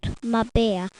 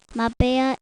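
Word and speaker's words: Marbella: we all visited old my bear my bear is spelt m a r b e l l a did you know that in spanish we pronounced double l as y in spain we had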